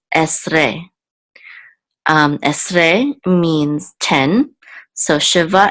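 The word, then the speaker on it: עשרה: So we know that the accent is on the last syllable. So this is esre.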